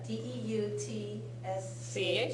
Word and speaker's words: Deutsch: Yeah, D-E-U-T-S-C-H. C-H? Yes, All right, say that. Deutsch. What's that sound like to you? Dutch, yeah.